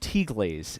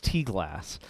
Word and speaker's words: T-glass: This is T-glass, which I've discovered is not pronounced T-glaze. It's T-glass.